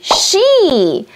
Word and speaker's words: Ŝ: 上音节 Legu kun mi: 跟我读 la litero Ŝ 这个戴帽子的s prononcata kiel “sh” en la ĉina Pinyin 发音像汉语拼音里的sh一样 S prononcata kiel